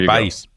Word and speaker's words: El País: I've never pronounced that. There El País.